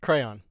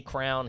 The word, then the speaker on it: crayon: Crayon. Gentlemen. Huh. Is it What's Wicked? the other way? I say crown, he says crayon.